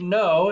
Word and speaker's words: know: okay that's okay so the word no if you didn't no starts with a silent k and it's similar to the word knowledge also starts with a silent k one of our core values at cfi our learner profile word knowledgeable also starts at that silent k but in every one of those examples the first sound you hear is an n so i'm i'm putting